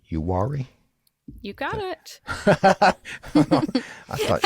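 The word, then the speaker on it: Uwharrie: and east of charlotte that's pronounced yuari you got it i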